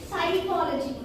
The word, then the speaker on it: psychology: But here P is the silent letter.